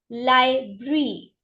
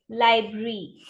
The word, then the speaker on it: library: you can go and read right isoun as liary Library Li Library how do we pronounce it Library liary repeat after me library